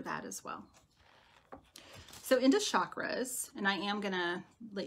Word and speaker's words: chakra: might hear it's pronounced chakra which is I pronounce it or chakra Thank You Brandi for linking Tisha's page you might hear it pronounced chakra with a more pronounced ch hi Rick that's one